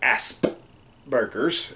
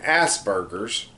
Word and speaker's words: Asperger's: Asperger's yeah mind you it's pronounced ass burgers but they keep calling and pass burgers because you know people